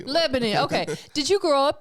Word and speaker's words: Lebanon: how do you say your city Lebanon Lebanon yeah like the country Lebanon okay did you grow